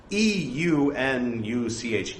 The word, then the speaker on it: eunuch: So E-U-N-U-C-H, eunuch, maybe they pronounce it o-notch or something, in which case it would be an o-notch, but since being American, I'm used to pronouncing it eunuch, it naturally flows to say a eunuch, not an eunuch.